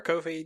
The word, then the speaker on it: Ko-fi: Ko-fi, it is pronounced Ko-fi, like coffee.